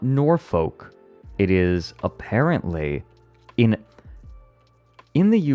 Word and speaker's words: Norfolk: I can't do the Saturday after because we're recording Norfolk Wizard game, but maybe the Saturday after that.